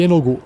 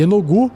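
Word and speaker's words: Yeenoghu: ele ou seja são uma maldição iogu que se escreve y e e n o g h u y enogu conhecido como Senor ou ginol e a besta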